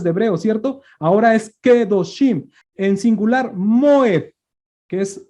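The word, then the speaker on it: קדושים: Kedoshim, exactamente. No podemos decir Kadoshim. Claro.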